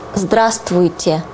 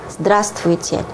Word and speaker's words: здравствуйте: The most common way to greet people is здравствуйте. Здравствуйте. Okay? And please mind that you don't pronounce v here. This would be difficult even for native speakers. So it's just здравствуйте. Здравствуйте.